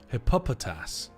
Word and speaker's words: Hippopotas: Hippopotas is how you normally pronounce it. Well, that's weird. Hippopotas. That's That's a strange way of pronouncing that.